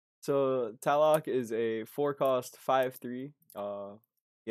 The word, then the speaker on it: Tlaloc: call it Talok. Talok. Let's call it Tlaloc. Just ignore the L. Yeah. Okay. Oh, just ignore all the L's.